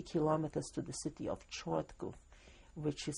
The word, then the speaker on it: Chortkov: but about 30 kilometers to the city of Chortkov, which is spelled C-H-O-R-T-K-O-V, and he died in prison there very soon.